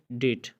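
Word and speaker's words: debt: इसी तरह आप कहते हैं डेट, यानी कर्ज, इसमें भी आप देख सकते हैं कि टी से पहले भी आया है तो यहाँ पे भी साइलेंट है।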